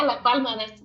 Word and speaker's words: La Palma: Yeah, La Palma. That's that's how I pronounce it.